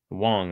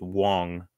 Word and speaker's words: Wang: an8 feet long and so it's Wang now Wong I should say it's it looks like Wang but again if you hear her pronounce it it's Wong um almost like wand you know not like Wang like bang but like Wong like wand but with the G all right another serve